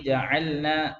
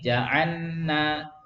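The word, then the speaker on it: جعلنا: Contohnya ja'alna itu 2 3. Ja'alna. Tidak boleh ja'anna. Ya, salah ya, tidak boleh. idgham ke nun ya.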